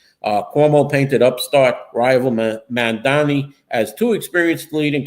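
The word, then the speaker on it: Mamdani: And uh Assemblyman Mandami said uh that Cuomo should learn to pronounce his name. Mandani uh Stringer said that he has the experience, his vision when you combine it in third lane, it's what you have.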